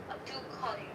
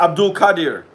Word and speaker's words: Abdulkadir: Abdulkadir. Hope it's pronounced that Yes, way. Abdulkadir.